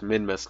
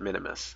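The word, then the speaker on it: Minmus: noticed that the he he mentioned that minmas is pronounced minus not Minimus and I had always thought Minimus and I guess I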